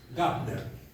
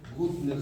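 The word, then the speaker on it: Güntner: Gner no es eh en realidad es Gutner se escribe Gabner con diéresis son evapores alemanes muy buenos hay diferentes tipos, pero ese Gner es es muy muy bueno.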